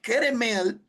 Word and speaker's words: Keremel: Pero cuando usted va al hebreo, la palabra Carmelo son dos palabras hebreas. Es la palabra kerem con m. Kerem, que significa viña y él que significa Dios. Entonces, Keremel, que el traductor puso